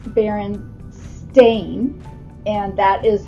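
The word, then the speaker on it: Berenstain: said Mrs row do you pronounce it Baron Stein or Baron stain and she said that's very interesting she said we use the EI pronunciation in in their spelling uh lessons because it's baren stain and that is how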